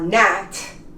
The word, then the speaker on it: gnat: Because, for instance, when this word starts with GN, as in gnome or gnat, you don't pronounce the G.